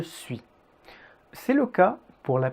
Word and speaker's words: suis: niveau m enfin vous remarquerez que le dernier s 2 suit n'est pas prononcé je suis c'est le cas pour